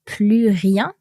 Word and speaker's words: plus rien: And so in our sentence, we saw that plus rien, and our S in the plus is silent here because of no more.